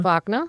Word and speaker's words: Wagner: How do you pronounce his name? Wagner? Wagner. It's Wagner.